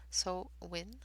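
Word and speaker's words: Samhain: to make sure i have the actual pronunciation of it which is so win which is the celebration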